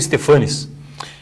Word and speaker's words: Stephanes: do programa memória Paranaense stefanes que é a pronúncia correta desse sobrenome alemão o senhor acabou ficando conhecido como stefanis é a origem é stepan né Depois foi acrescentado es